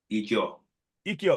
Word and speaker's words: Ijaw: Ijo, yes. How do you spell that again?